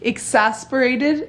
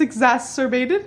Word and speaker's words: exacerbated: since then has only exasperated excess what is the word I said it wrong the other day so now I'm getting insecure exasperated exasperated exacerb rated I think it's exacerbated exacerbated has only exacerbated